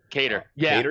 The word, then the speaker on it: Kattar: Cater. That's a good. Yeah, that's how you pronounce it.